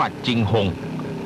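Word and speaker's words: 景洪: เ เมือง เชียงรุ่ง หรือ ที่ ชาว จีน ออก เสียง ว่า จิงหง เป็น เมือง ศูนย์ กลาง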